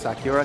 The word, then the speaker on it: Sakura: something that turns out it's actually pronounced Sakura because she's British oh my Lord she's